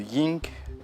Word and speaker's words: yin: Vous avez prononcé peut-être malgré vous un ying. Et c'est yin.